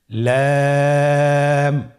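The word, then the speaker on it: لام: লাম হরফটি উচ্চারণের ক্ষেত্রে অবশ্যই বারিক হবে এবং তিন আলিফ টেনে পড়তে হবে। আপনারা আমার সাথে বলুন লাম।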